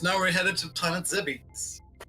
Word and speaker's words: Zebes: Because now we're headed to Planet Zebes. Zebes. Zebs. I mean, there are many things in this game you can pronounce many ways.